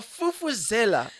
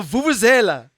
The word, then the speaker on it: vuvuzela: Jeez, a fufuzela. All right, then. It's very What is the sophisticated. correct term? How do you say it? A vuvuzela.